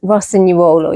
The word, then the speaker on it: Rossignuolo: It's Rossignuolo, isn't it? Rossignuolo, yeah. Oh my the G God, is silent, yeah.